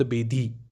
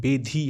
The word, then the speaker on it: बेधी: उच्चारण बार बार कीजिए इसका, ताकि आपको सही उच्चारण आए, शब्द बेधी। अभी हम क्या बोलते हैं, शब्द भेदी, भेदी, शब्द भेदी बाण, शब्द भेदी बाण, तो भेदी नहीं है, बेधी है, शब्द बेधी, शब्द बेधी।